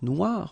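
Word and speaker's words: noire: you will have to add this at the end of Noir for the feminine form but then you don't pronounce it okay so phonetically it is exactly the same no Noir Okay g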